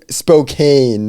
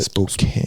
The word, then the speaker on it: Spokane: I was like, man, that is how it's spelled, though. But it's based on, like, the Yeah, tribal yeah. way Yeah. of saying it. Spokane.